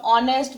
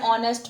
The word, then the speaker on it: honest: In case of honest, we use an honest man because H is silent.